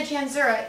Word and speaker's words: Janczura: So like, hi, this is Janczura. Yeah, yes, it's CZ, the C is silent, yes.